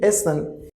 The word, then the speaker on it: essen: It means A, so, un. A, so, un means like overall pronunciation will be essen.